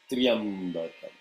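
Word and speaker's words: Tryambakam: And first and foremost, when people chant this mantra, they chant Trayambakam, they chant Triyambakam, all kinds of variations. It is, if you look at the syllable as it is written in Devanagari or Telugu, it is a ta, ra, ya together. So it should be Triyambakam.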